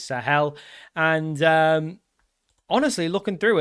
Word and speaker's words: Sahel: It is actually just how I was pronouncing it, which is Sahel.